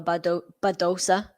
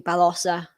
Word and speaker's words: Badosa: Yeah, I think a lot of people generally say Paula Badosa because I guess in English that's where your kind of instinct would go. But if you're using the Spanish pronunciation, it would be Balosa rather than O.